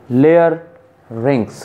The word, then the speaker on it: larynx: And pronounced layer rings.